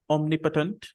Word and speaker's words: omnipotent: the word after me omnipotent omnipotent omnipotent omnipotent okay omnipotent can someone tell me the number of syllables omnipotent three omnipotent actually there are four syllables four last C is